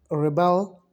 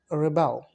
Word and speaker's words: rebel: Okay, now when we gonna pronounce the word as a verb, so we will pronounce it present, rebel, rebel.